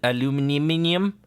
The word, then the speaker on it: aluminium: did he called al aluminium he said aluminum even though he was british when i supposedly they say aluminium as far as i